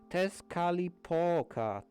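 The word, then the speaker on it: Tezcatlipoca: How do you pronounce that? Sihagha? Tezcalipoca.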